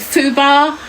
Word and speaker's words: FUBAR: Um, is it Fubar?